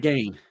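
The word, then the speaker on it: Gein: It's Ed Gain. Gain. I don't know why you're calling him Gene.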